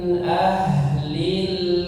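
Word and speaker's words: أهل: Huruf ha di situ ha yang kalau kita bilang seringnya ha besar atau ha yang tebal ya. Min ahlil. Min ahlil. Jadi jelas ya bukan yang tipis. Jangan min ah. Bukan ahlil tapi ahlil.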